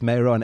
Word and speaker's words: Meiron: there and that's why you have the name meron meron do I say it right give give us give us a bit of the it's meon and it's a difficult name to pronounce it kind of sometimes people think it's